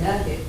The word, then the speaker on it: nougat: No, you're saying nougat. You can't say nugi. Nahar. But nugar isn't a word, is it? Nugari. I say nugget. Yeah, nugget. Yeah, nugget. That's new. I take nugget. What? Nug. Nougat. Nugget. Nugget. Wait, you really say nugget? Yeah. I've never heard of that one before.